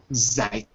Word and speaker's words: Zeit: Each of those spellings, it's pronounced I. And I'll give you an example. The first I is in a foreign word, like, so it's not used very often, but the word Zeit, as in the English